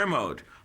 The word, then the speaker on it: Kermode: or am I what Mark how do you pronounce his last name ker kermode mark thank you for this somebody asked me